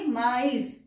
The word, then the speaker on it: mais: इसको हम प्रोनाउंस करेंगे मे, ठीक है? इसके अंदर सेकंड में त्रेमा नहीं है, इसको हम मे कर रहे हैं, एस नहीं प्रोनाउंस कर रहे लास्ट का, मेस नहीं है, लेकिन यहां पे हम माइस बोल रहे हैं, समझ आया?